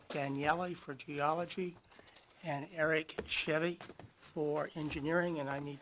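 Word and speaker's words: Shivy: say the last name of the last person Chevy sh sh i v y I mispronounced at the last hearing and Mr examiner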